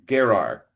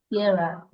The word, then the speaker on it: Gerar: Well, it's never certain, but Gerar. Gerar.